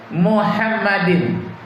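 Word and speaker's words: מחמדים: Hikmam Takim Muhammadin. Muhammadin itu Muhammad pisahkan sedikit im, Muhammad im, bacanya Muhammadin, nama Nabi Muhammad.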